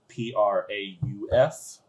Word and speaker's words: Prof: And so you and your friend Prof, I believe his name is. Like you- a professor. I was just thinking. But not spelled like professor, more like Prauf.